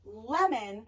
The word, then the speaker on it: lemon: So in the word like lemon, is it in lem or un? Where is it being strong? Which syllable is it being lazy? Lem is a nice strong sound. The e is doing its job. It's saying e. But here the o is being uh lemon. It's being lazy in syllable 2.